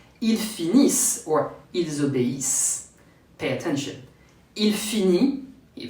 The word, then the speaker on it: ils obéissent: Why ils obéissent, they obey, ends with the S sound? Because as for the first group verb, French never pronounce the final ENT. So here, I drop the ENT and ends with the previous sounds. Here, the S as in snake.